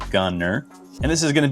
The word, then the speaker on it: Gunter: I know there's a T there, but it is pronounced Gunner.